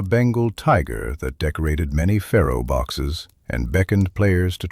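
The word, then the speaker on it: faro: pronounced pharaoh and descended from a French game called ferron.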